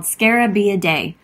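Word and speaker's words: Scarabaeidae: group of beetles called scarabia day when you pronounce this it sounds like scare a bee a day but please don't scare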